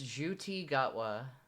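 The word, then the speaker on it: Ncuti Gatwa: oh it's a fancy little Bumbo uh it's juti gotwa yeah yeah that's kind of what I just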